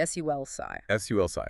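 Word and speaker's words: sulci: Sulsi.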